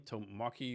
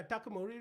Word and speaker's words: Takamori: How do you say his company's name? Tomaki Robots or something like that? Yeah, Takamori Robot.